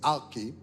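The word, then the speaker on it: ἀρχή: Le mot utilisé pour principauté dans la Bible, c'est arché, A-R-K-H-E, arché, ok, en grec, A-R-K-H-E, ok, qui prononce arché.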